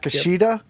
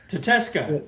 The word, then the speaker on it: Takeshita: Yep, Takeshita? Tateska. Yes. I hate the way it's not spelled. able to read. Yeah. I know. It don't look like no damn Takesta the way it's spelled.